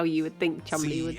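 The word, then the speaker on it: Cholmondeley: This is apparently the word that is pronounced chumly. Cholmon delay is what it is.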